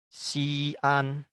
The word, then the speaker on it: Xi'an: Contoh kedua adalah Xi'an. Xi'an itu nama kota. Xi'an. Kalau kita rangkaikan tanpa apostrof menjadi Xian ya.